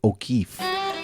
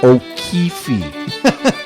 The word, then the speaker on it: O'Keefe: I'm of Irish descent I know how to say O'Keefe it's not O'Keefe me and the VP